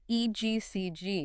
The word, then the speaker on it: EGCG: called egcg right we talked about that yeah egcg is that how you pronounce it yes egcg okay and egcg has been shown to Target